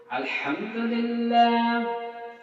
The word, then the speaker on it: আলহামদুলিল্লাহ: আলহা আলহামদ আলহামদু আলহামদু আলহামদুলিল্লাহ এটা হচ্ছে সঠিক উচ্চারণ আর যদি কন আলহামদুলিল্লাহ এখানে হা টা বড় আছে হা আবার ছোটও আছে কিন্তু বড় হা এর উচ্চারণ এখানে করতে হবে এখানে হায় ভর্তি হাই